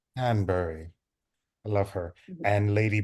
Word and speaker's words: Danbury: that scene where um lady Danbury right that's how you say her name Danbury Danbury I love her and